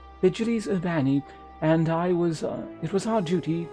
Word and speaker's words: Vigiles Urbani: How would this be pronounced in Latin? It would be like Vigiles Urbani? Vigiles Urbani, and it was our duty to keep the citizenry safe.